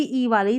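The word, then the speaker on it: evil: ईवल का मतलब बुराई, इविल नहीं, ईवल। ईवल इसका सही उच्चारण है, ई वाई आई एल।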